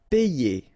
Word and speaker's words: payer: Payer, okay, as we had previously, you've got this Y, so just consider that you will have one E here, and then you combine the two, you get E, and